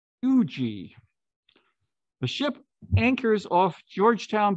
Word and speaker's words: Huger: presentation for a while i'm mispronouncing the guy's name it's not huger it's fuji the ship anchors off georgetown bay south carolina on june 13 1777.